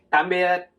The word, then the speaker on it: tạm biệt: Okay, in Vietnamese you say tạm biệt. Tạm biệt. Tạm biệt. Tạm biệt. Tạm, like, Tạm. with the heavy sound, like a dropping sound.